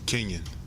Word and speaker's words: Kenyon: So can you tell me how to pronounce it? Is it Kenyon or Kenyon? Kenyon.